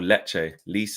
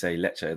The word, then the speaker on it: Lecce: Oh, Lecce. Lecce.